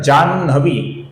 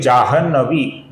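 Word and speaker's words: जाह्नवी: कुछ लोग इसका उच्चारण जानवी ऐसा करते हैं जो कि गलत उच्चारण है। न का उच्चारण पहले करते हैं। ह का बाद में करते हैं जो संपूर्णतया गलत उच्चारण है। दोस्तों ये शब्द है जहनहु जिससे बना है जाहनवी जिसमें हता है। न बाद में आता है। तो हमें ह का पहले उच्चारण करना है। न का उच्चारण बाद में करना है।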